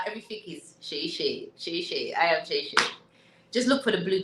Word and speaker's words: Seyi: For those that are not Yoruba, Shay is spelled Seyi.